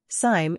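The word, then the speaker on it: Sime: is putting it mildly Sim it rhymes with him not lime was born in Patterson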